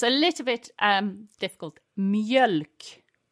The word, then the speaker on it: mjölk: Mjölk. Mjölk. Is that an O with two dots sound? Yes, so it's M-J-E-L-K.